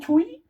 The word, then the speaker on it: Twi: I know I'm pronouncing it incorrectly. I know it's spelled Twi, Twi, but it's actually Twi or something like that. That's how you pronounce it.